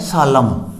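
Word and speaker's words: solemn: Next है SOLUMN, यानी एम के बाद एन यहाँ फिर साइलेंट है, सालम, यानी गंभीर। इसी तरह का वर्ड है HYMN, यानी एम और एन यहाँ अपना साइलेंट हो जाएगा, हिम।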